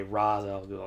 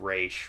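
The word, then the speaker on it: Ra's al Ghul: how you pronounce it the only pronouncements that ever annoy me is when they say ras i'll go instead of race but that isn't here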